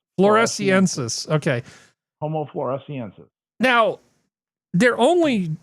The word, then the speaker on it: floresiensis: so they talk about this this proto-human Homo florensis. I can't pronounce anything. How do we pronounce this, Skep? Let me see. I need to make it larger. Hold on. Yeah, Florensis. Floresiensis. Floresiensis. Okay. Homo floresiensis.